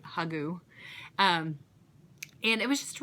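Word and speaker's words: hygge: into it with in what's called hugu or h y gge u if you see that word that's what that how you pronounce it hugu um and it was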